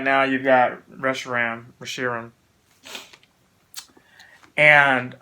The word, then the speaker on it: Reshiram: got I can't even say his name right Reshiram Reshiram rush around let's go say rush around although Reshiram Reshiram